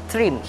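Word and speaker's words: Thrym: for the character's name such as trim we pronounce them t-h-r-i-m trim this book starts with an introduction of magnus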